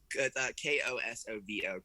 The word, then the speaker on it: Kosovo: coast coast coast yeah yeah i don't know k-o-s-o-v-o kosovo kosovo see i can at least pronounce something correctly i didn't even most people